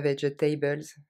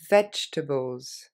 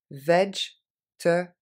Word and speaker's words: vegetables: Encore une fois, celui-là, si vous voulez le répéter, parce que c'est pas vegetables, mais vegetables, vegetables, vegetables, white meat and cheese, bread, fish, salt